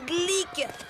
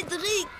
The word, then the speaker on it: Cédric: moi Cédric répète Cédric Cédric non pas c'est Gleek c'est Cédric Cédric oh j'ai des prononce pas l'air ils mettent des ailes à